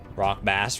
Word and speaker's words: rock bass: Rock bass rhymes with pass.